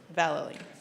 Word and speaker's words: Vallely: Valerie.